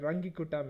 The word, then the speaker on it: Runge-Kutta: for time marching Carla's rk4 method or the runge-kutta method no people's parents at different man different